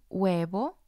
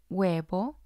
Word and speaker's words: huevo: for example hombre hombre huevo huevo the h doesn't make a sound it's just the vowel sound there are situations where